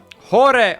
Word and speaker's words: Jorge: Is it Hora or Hor?